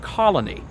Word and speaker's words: colony: the name colony that three-syllable word colony if i'm not careful it comes off my tongue as two syllables and i get frustrated